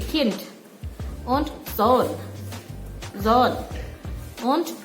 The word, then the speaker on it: Kind: Oke, untuk bacanya Kind. Jadi ada D di belakangnya, cuman D-nya jangan terlalu jelas diucapkannya, jadi Kind.